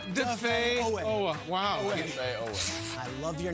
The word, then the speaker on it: Odafe Oweh: It's not Odafe, it's Odafe. Odafe. Odafe. Odafe Oweh. Odafe Oweh.